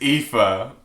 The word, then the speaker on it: Aoife: The next one is Aoife, which, how do you say it? Aoife. Pronounced Aoife.